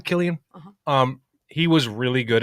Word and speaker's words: Cillian: Yeah, is that how you pronounce the name, Cillian?